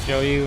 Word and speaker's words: Zhou Yu: Oh my god, he's pronounced Zhou Yu, and I always called him Cao Yu.